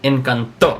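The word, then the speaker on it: Encanto: t o t o with an accent on it in the pronunciation would be inant so the the loud the loudest part is the oh ah see see see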